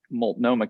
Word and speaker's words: Multnomah: uh the joint office of homeless services for multnomah county um it is the city of portland and multnomah county in oregon um first of all thank